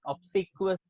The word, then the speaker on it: obsequious: So it's not obsequious. It's obsequious. Obsequious.